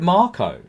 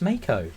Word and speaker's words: mako: because it's a shark is it a marco shark why do you it doesn't even have an r in it like why did you call it marco because i thought that was the pronunciation it's mako it's m-a-k-o well i